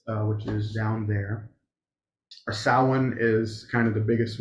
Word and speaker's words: Samhain: Samhain. That's not how it's spelled. Yeah. Yeah, it's spelled like Sam Hain.